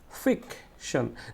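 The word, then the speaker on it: fiction: তো এই ফিকটা কি করতে হবে? আমাকে জোরে উচ্চারণ করতে হবে। যেমন ফিকশন। তাহলে ফিক বলতে গেলে আমাকে একটু জোরে উচ্চারণ করতে হয়েছে এবং একটু সময় নিয়ে উচ্চারণ করা হয়েছে, এই জন্য এটাকে বলা হচ্ছে স্ট্রেসড সিলেবলস।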